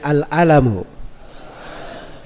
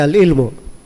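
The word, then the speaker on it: العلم: Ingat ya, bacanya al-alamu. Di fathainnya, di fathalamnya. Jangan sampai antum baca al-ilmu. Itu beda ya.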